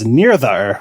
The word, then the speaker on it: Nirdhar: So the actual pronunciation is Nirdhar, which means determination.